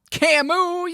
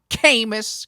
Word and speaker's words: Camus: like some non-french speakers mispronouncing his name camis cause it's spelled c-a-m-u-s came it's like kingsley amos